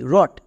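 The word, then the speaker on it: wring: তার মানে প্রত্যেকটিতে ডব সাইলেন্ট থাকবে। যেমন ডব আর ও টি ই রট ডব আর আই এন জি রিং ডব আর এ পি রাব এখানে কিন্তু একটাতেও ডবর উচ্চারণ হচ্ছে না কেন কারণ প্রত্যেকটিতে আর আছে তাই তাহলে আরেকটি এক্সাম্পল দেখো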